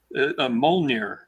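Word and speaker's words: Mjölnir: Yeah, I have no idea how to pronounce that. Molnir.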